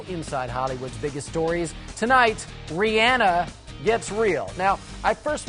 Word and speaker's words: Rihanna: that in fact her name is pronounced Rihanna look at you all